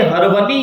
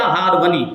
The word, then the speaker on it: ہرونی: کی طرف منسوب ہے۔ تو اگر صحیح تلفظ کے اعتبار سے دیکھنے جائیں تو یہ ہونا چاہیے ہرونی یا ہارونی، لیکن چونکہ زبان زد خاص و عام ہو چکا ہے، اب ہر خاص اور عام بندہ ہارونی ہی کہتا ہے، خواجہ عثمان ہارونی، تو اس میں بھی کوئی حرج نہیں ہے، کوئی گناہ نہیں ہے، ہارونی بھی کہہ سکتے ہیں۔ لیکن صحیح تلفظ جو تھا میں نے وہ آپ کو بتا دیا۔ تو آپ اس علاقے